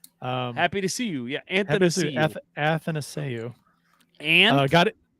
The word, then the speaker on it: Athanasiou: Yeah, Athanasiou. Athanasiou. And got it. And no, it's Ath. Athanasiou. No, there's no and.